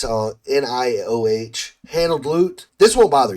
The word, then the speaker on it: Nioh: If you like Neo, not I don't know how to pronounce this game. It's Nioh handled loot.